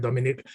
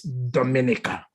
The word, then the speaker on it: Dominica: And by the way, they've been calling it Dominic. It's Dominica. Dominica. Yes, Dominica. No, it's not Dominica. Oh, Dominica. It's Dominica. So get that pronunciation very well.